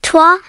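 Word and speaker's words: trois: UN, pronounced like A, DU, pronounced like DA, CHUA, pronounced like TWA, CATER, pronounced like CATRU, SINK, pronounced like SANK, SIX,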